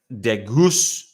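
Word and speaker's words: de Geus: The other guy that's been added is Brett DeGoose. Again, pronunciation, emphasis on the goose on the second part of his surname.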